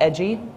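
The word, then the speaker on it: EDGI: her work um oh yep in edgy is pronounced edgy archiving data and environmental enforcement watch she focuses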